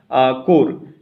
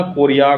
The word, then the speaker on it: Correa: जाता है, तो चार्ल्स कोर, ठीक है, चार्ल्स कोर। आपको जो स्पेलिंग से जो समझ में आए उसको लिख लेना, कोरिया, कोर, इस तरह का स्पेलिंग इनका CORREA, ठीक है, कोर या कोरिया, चार्ल्स कोरिया, ये थे इसके आर्किटेक्ट।